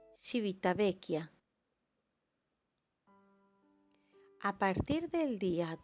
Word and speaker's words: Civitavecchia: en civitavecchia en italia en italiano se pronuncia civitavecchia a partir del día